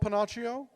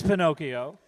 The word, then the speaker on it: Pinocchio: know this one called Pinocchio I'm not sure you're pronouncing it I believe it's Pinocchio it's about a little